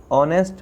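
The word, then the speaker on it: honest: तो H है, लेकिन H जो है वो साइलेंट रहता है, तो इसकी जो आवाज़ है, इसकी जो ध्वनि है वो अ से शुरू होती है, इसलिए हम ए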